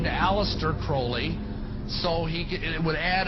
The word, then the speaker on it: Crowley: have his name pronounced Crowley to rhyme with holy and the satanists today